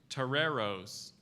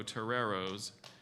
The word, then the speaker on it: toreros: c l e e r chanticleer correct Toreros Toreros can somebody bring me a whiskey before we can use it in a sentence Jimmy was disappointed to learn that the University of San Diego Toreros don't actually field a bull fighting team okay